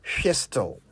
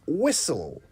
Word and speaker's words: whistle: whistle and certainly not fistle it's whistle w h i s t l e whistle the t is silent and so is the H the word actually comes